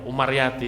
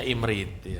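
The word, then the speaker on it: Imrithi: Belajar imriti mungkin pertama kali masih belum belajar imriti, bacanya bukan imriti ya, Umaryati ya. Sama dulu kecil saya, Umaryati, kita apa Umaryati, tidak tahunya imriti ya.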